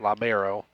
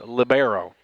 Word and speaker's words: libero: Now, I found out that's not pronounced libero, as Trinity told me last week. She said I was a goof and misspelled that all year long. So it's libero.